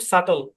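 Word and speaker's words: subtle: নিয়ে কিছুক্ষণ জপেন আচ্ছা তারপর অল্প কিছু শব্দে বিটি থাকলে মানে বিটা একসাথে অল্প কিছু শব্দে সাইলেন্ট যেমন ডেড ডাউট সাটল এর বাইরেও আরো দুই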